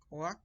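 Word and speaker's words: כוח: In power, power is koach, and it is spelled Koah. Okay, so koach.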